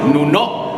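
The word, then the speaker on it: Nunó: no sé cómo se Nuno, con acento en la última O, sílaba tónica en la última sílaba.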